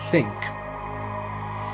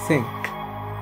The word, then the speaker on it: think: Think. Think. Olha só. Ok? Think. Ao passar do tempo, vocês vão pronunciar assim, não vão precisar colocar a língua para fora, toda a língua para fora, não.